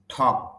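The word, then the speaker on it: talk: ঠক এল কে ঠক এখানে এল এর উচ্চারণটা হবে না।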